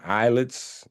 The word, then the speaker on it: islets: The eyelets. The eyelets of Langangerhans. It says islets. Yeah. They're pronounced eyelets. S is silent. Oh, the S is silent like aisle.